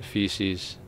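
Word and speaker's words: Faecium: Um, Fasium is pronounced feces.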